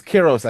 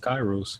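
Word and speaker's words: Kyros: it's Kiros actually. Kiros' backstory, but yeah, All right, sorry, I'm I thought it sorry. was pronounced Kairos, but if no, it's I you're apologize.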